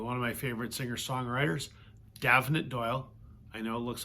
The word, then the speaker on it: Damhnait: of my favorite singer-songwriters, Damhnait Doyle. I know it looks like her name should be pronounced Damhnait, but I guess it's an Irish name, Damhnait.